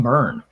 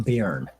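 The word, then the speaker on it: Byrne: Superman, the Earth Steelers by John Burn, not John Beern as I pronounced all throughout the 80s.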